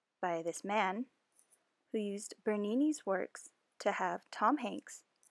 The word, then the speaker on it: Bernini: Or just Bernini. It rhymes with panini.